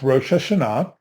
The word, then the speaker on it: Rosh Hashanah: not this is the Hebrew and and it's pronounced rosha Shah and we just transliterate it and put whatever